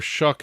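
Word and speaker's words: Shough: Now, Tyler Shuck has looked very impressive for the Saints during their 3-game winning streak here. So impressive that I learned how to pronounce his name correctly. I was calling him Show for God knows how long.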